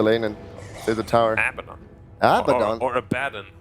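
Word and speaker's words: Abaddon: abon or a badon which one is the correct way to say it aad that's what he aad is what a says yes but it's abadon abon it's definitely abon I say AB sounds like a Japanese food like these yons or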